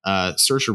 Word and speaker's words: Saoirse: Saoirse Ronan plays Christine Lady Bird McPherson.